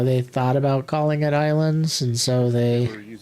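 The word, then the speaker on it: Ylands: Now, I don't know if anybody out there has played Wlands, which is pronounced islands, I guess.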